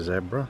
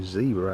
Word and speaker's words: zebra: of course is a zebra as we would call them or zebra as those in the United States would call them it's just a pronunciation Zed or Z but that is gray